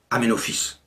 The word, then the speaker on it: Aménophis: if amène retape mais il se prononce aménophis il reconstitue ce temple